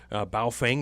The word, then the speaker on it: Baofeng: There's also a brand called, if I'm going to say it correctly here, Baofeng.